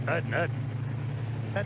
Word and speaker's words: Udden: Ralph, it's all in the pronunciation. It's Udden. That's why you're the expert.